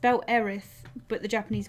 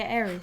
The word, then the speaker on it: Aerith: you name her because aerith say Eric so honestly I've said both ways and I think they're both fine to use either pronunciation I thought a default name